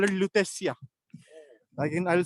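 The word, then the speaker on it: Lutetia: a town and they used to call it leesia again I'll spell it for you l u p e c i a leesia and that was the name of this place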